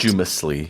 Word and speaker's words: posthumous: Yeah, it's not Posthumously. exactly. Or a posthumous award, then it's an adjective. 네, 이 발음할 때 posthumous 가운데 쭉 이런 사운드가 들어갑니다.